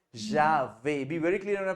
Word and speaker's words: j'avais: I heard you say je vais. You have to say j'avais.